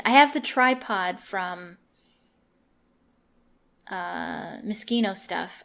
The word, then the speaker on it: Moschino: I have the tripod from Moschino stuff. I think it's pronounced Moschino. I think I usually pronounce it Machino, but that's like the cherry. It's Moschino, I'm pretty sure.